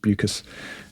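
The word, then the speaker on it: Beukes: City by Lauren buas I'm I'm reliably informed that it's pronounced buas uh and um zinzi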